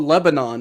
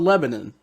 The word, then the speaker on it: Lebanon: It's not called Lebanon, Ohio. It's called Lebanon.